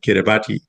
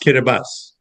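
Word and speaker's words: Kiribati: So, so, so Kabibus is spelled K I R I B- A TI, which is why you said Kabati, but it's actually pronounced Kabas.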